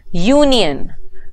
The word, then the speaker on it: union: the vowel U when I pronounce them Union what is the sound that I hear Union U umbrella what is the